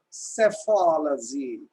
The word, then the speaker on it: psephology: That is called psephology. Psephology. Please look at that word. P is silent.